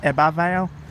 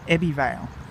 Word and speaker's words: Ebbw Vale: I've looked on Wikipedia and apparently it's pronounced Ebbw Vale, but Queensland Rail guards have pronounced it Ebbw Vale, and the automatic DVA on the trains pronounce it Ebbw Vale.